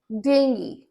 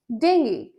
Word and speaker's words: dengue: And this is, बहुत लोग बुलाते हैं डेंगू. No, it's not dengue, it's dengue. Dengue.